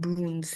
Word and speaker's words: brun: So the masculine form is brun, brun. Okay, then feminine form is brune.